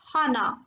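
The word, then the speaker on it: 하나: Hana.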